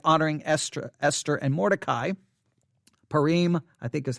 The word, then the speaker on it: Purim: Esther Esther and Mordecai Purim I think is how you pronounce that P you are I am a Purim I think is how you say it if I'm mispronouncing that